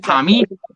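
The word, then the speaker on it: Parmi: I'm glad you said that because it's spelled P-A-R-M-I. It's pronounced palmy, not an A.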